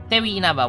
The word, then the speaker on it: Tewi Inaba: Tewi Inaba with a silent W.